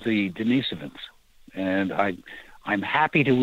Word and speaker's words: Denisovan: they're currently called the denisovans and i i'm happy to report that apparently the most widely used mainstream pronunciation of that is denisovan okay that may seem correct not dennis oven but in any case